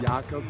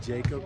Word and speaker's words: Jakob: Jakob instead of Jacob, you know, it was pretty challenging, but no, it's great.